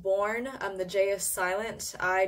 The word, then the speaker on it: Bjorn: better than the Littman did confirm it's actually pronounced born I'm the jeaious silence